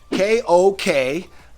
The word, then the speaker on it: kok: Ko K. It's pronounced A lot of people use ko k.